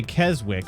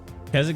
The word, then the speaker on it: Keswick: The W is silent.